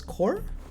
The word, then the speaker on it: corps: police officer uh yeah corpse pronoun is pronounced as core wait a second really what the p is silent and they asked I mean it's as silent too again what this is